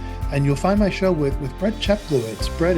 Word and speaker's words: Brett Cheplowitz: Um You nailed the pronunciation of the name, Brett Cheplowitz.